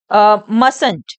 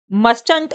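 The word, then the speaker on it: mustn't: तो कंट्रक्शन में फ्रेंड्स यह जो टी है मस्ट का जो ये टी होता है यह साइलेंट हो जाता है यह रीड करा जाएगा मस फ्रेंड्स आप इसको मंट नहीं रीड करेंगे आप इसको मस रीड करेंगे ठीक है जो टी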